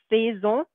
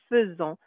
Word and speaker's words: faisons: I know it looks like faisons, but actually we're going to say faisons.